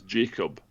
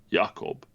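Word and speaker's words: Jakob: the Yakob, which English speakers will say that's Jacob, but it's not because it's Swedish, so it's pronounced Yakob.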